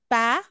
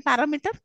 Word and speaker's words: parameter: Okay, meter, parameter, thermometer, barometer, where the third from the last syllable is stressed. For example, parameter. How many syllables are there in parameter?